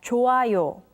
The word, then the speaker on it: 좋아요: When the character hyut meets with iung, the character hyut becomes silent, so it's pronounced as 좋아요.